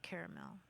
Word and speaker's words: caramel: Yeah, that first syllable can be care, cur, or car. The last syllable can be male, mill, or mel. And that middle syllable can either be or not pronounced. And so mix them up, and you got a lot of different pronunciations.